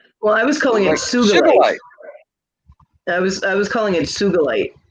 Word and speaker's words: sugilite: How do you say that again? Sugilite. Sugilite. Sugilite. Ooh, I did it right. Yeah. Yeah. I was calling it sugarlight for decades, Yeah. and Sandy corrected me in spades.